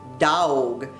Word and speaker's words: dog: And the word dog is pronounced dawg. D-A-W-G.